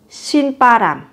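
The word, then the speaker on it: 신바람: Gấp đôi phụ âm ấm tiết thứ hai, phát âm với âm căng và mạnh. Xin pa ram.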